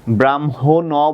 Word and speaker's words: ব্রাহ্মণ: ব্রাহ্মণ বলি না, ব্রাহ্মণ, তার মানে এখানে কি উচ্চারণ হচ্ছে না বাচ্চারা, খেয়াল করো, এখানে অ